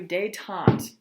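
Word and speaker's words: détente: was elected US president he called for day tante this is what it looks like I have it phonetically spelled out for you day Tom actually heard d'etat on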